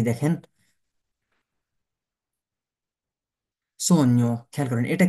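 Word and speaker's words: sogno: দেখেন জি, এখানে এই শব্দটা মাথায় রাখবেন যে যখন আমাদের এই যে জি এন এ থাকবে তখন জি এর উচ্চারণ হবে না, তখন কি এন এর উচ্চারণ হবে, যেমন সৈন্য, সৈন্য মানে কি, সৈন্য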